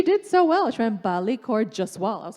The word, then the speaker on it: Balli Kaur Jaswal: was a thrill in just hearing Reese Witherspoon pronounce my name correctly, which she did so well. She went Balli, Kaur, Jaswal.